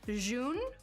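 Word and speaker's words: jaune: according to online is pronounced june because it is a french word but june is the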